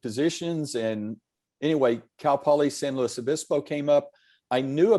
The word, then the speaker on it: San Luis Obispo: And then I said, "Well, I've never been to San Luis Obispo before." And she said, "Oh, you pronounced it right."